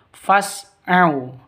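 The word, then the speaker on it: فاسعوا: Fasu ila fas'au ini bukan alif tapi hamzah wasol. Kalau di tengah seperti ini tidak dianggap ya, tidak dibaca jadi langsung masuk ke sininnya. Jadi bacanya fas bukan fas bukan seperti itu tapi fas au.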